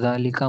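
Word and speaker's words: ذٰلِكَ: Example हाजा बैतुन व जालिका मस्जिदन. This is a house and that is a mosque. Note जालिका is pronounced जालिका बट इट is written without the अलिफ.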